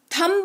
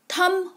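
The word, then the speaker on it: thumb: भी आप कहते हो थंब नहीं पढ़ते हैं टी एच यू एम बी थंब नहीं होता है थम होता है ठीक है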